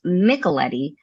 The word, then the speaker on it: Micheletti: or and my last name is pronounced nicoletti but I often say it sounds like Michelob and spaghetti that's right I thought